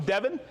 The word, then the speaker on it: Devon: don't you forget it it's south devon england not devin rich c from oh